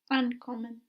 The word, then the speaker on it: ankommen: Ankommen. Ankommen. Would this verb split? Yes. Why? Because the accent is on the an.